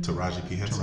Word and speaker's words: Taraji P. Henson: How do you pronounce her name? Taraji P. Henson.